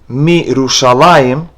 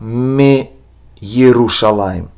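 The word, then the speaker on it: מירושלים: pay attention to is the word mirushalayim, from Jerusalem, is read mirushalayim, not me Yerushalayim. If you notice, Yud does not have any vowels, and so therefore it is a silent letter. It serves as E of the previous letter.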